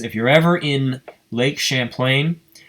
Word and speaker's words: Champlain: But Champlain Valley Rail Snapshots says, if you're ever in Lake Champlain, is that how you pronounce that? Is it Lake Champagne but with an L? Champlain, yeah.